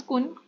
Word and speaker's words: Kuhn: Next 107 question says that Kuhn Thomas कुन कुन है बट एच साइलेंट आएगा यहाँ पे if I'm not pronouncing it wrong.